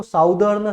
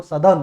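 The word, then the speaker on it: southern: इसके बाद ये ध्यान रखना है, इसको साउदर्न, साउदर्न भी कुछ बच्चे बोलते हैं, कुछ साउथर्न भी बोल देते हैं, ये गलत है। इसका होता है एग्जैक्ट प्रोनाउंसिएशन जो है वो सदर्न होता है, ठीक है, सदर्न, ठीक है।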